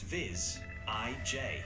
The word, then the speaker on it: visage: It's pronounced Viz, IJ.